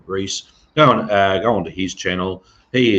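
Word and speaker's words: Rhys: His name is spelled R-H-Y-S. So Comrade Reese.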